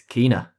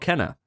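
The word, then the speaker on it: Kena: time by the way it's kina bridge of spirits well it's not kenner it's not kenner it's kinah how did you find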